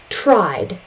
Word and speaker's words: tried: There's no additional syllable. The I sound is voiced, so we continue on with the voiced D sound.